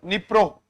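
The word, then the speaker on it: Dnipro: Nippro or D is silent.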